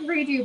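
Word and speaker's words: Redoux: it's only red uh it's called redo but it's spelled r-e-d-o-u-x all right come on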